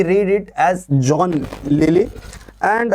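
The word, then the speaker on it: Lyly: किड ठीक है and then John lily Likee spelling है एल वाई एल वाई बट we read it as John lily and a green has win told P Marlowe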